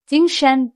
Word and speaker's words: 精神: First tone, 精, high, steady. And second tone, 神, is a rising tone.